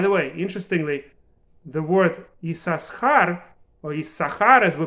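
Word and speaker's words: יששכר: And in fact, there are some communities that pronounce it as Yisachar, not Yisachar, Yisachar. They actually pronounce 2 letters.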